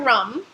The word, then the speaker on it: rhum: You're going to want rum, a white rum, ideally a rum from Martinique that is also spelled R-H-U-M, but pronounced in the same way, which is a rum agricole, and so that'll have like that nice grassy.